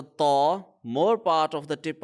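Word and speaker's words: ط: So Taw is a heavy letter, Ta is a light letter.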